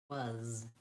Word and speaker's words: was: I make the sound that I associate with So if I was going to spell was, just like it sounds, I would spell it W-U-Z, was.